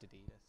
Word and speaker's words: Addidas: with 2 Ds, and it's spelt like that. we have double D. It's A double D. Yeah, you're getting the double D if you like Jesus Wears Ds. Yeah. No, it's Jesus Wears ADDIDS. Pronounced Adidas.